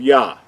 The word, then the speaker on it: Yah: it correctly or accurately so going back to the first two letters we know that this the first two letters are pronounced as yah we talked about that the